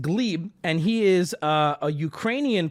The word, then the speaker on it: Gleb: him his name is Glebe uh spelled gleb but pronounced Glebe and he is a